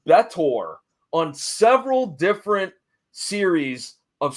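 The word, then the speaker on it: B'Etor: She would later go on to be, I believe it's pronounced Betor, on several different series of Star Trek.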